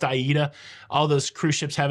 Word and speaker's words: AIDA: names of those cruise ships just because it's pronounced Aida all those cruise ships have an interesting name